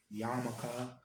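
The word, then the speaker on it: yarmulke: wear a I guess the pronunciation is like Yara but I always heard like yamaka but a little hat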